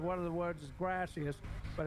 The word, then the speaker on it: gracias: a few questions because grassy asses thank you in Spanish you're mispronouncing it yeah I am mispronouncing it for the sake of the joke gracias but grassy ass you